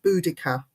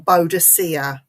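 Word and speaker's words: Boudica: I live in um we pronounce it buddika yeah or bodia her last stronghold was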